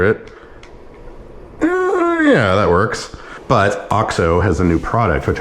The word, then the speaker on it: OXO: It's made by OXO, which apparently is pronounced OXO, but really cool setup, been using it for years.